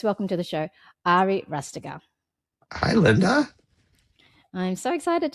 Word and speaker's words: Rastegar: Is that how you pronounce it? Ari Rastegar. Rastegar.